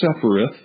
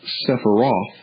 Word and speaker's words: Sephiroth: of initiation relating to the Kabbalistic Sephiroth, or Sephiroth, depending upon how you want to pronounce it.